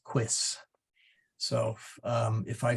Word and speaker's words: quis: me saying quies occasionally it is not queece but it is quis so um if I